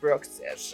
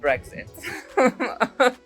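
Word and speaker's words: Bruxish: It's Bxish. It's not Brexit.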